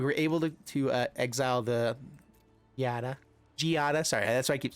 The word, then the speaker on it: Giada: We were able to exile the Giada. Sorry, that's why I keep saying it wrong. In my mind, it looks like Gaida, but I've been told that it's not.